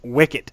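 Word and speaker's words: WCIT: the UN conven convened World Conference on International telecommunications um pronounced Wicket that's what they're calling it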